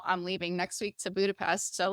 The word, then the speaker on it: Budapest: But yeah, I'm going to Budapest, and actually, you pronounce it Budapest. Budapest.